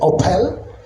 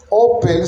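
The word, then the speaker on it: Ophel: La palabra Opel se escriba o P e perdón o p h l no se pronunciaba.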